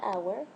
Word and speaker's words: hour: This H is silent. So the first letter that I pronounce is the OU, or the first sound that I say is the OU, the ow sound.